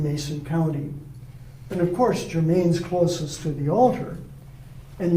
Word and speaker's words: Germain: And by the way, the English usually pronounce it as German. But that's St. Germain's, and out in front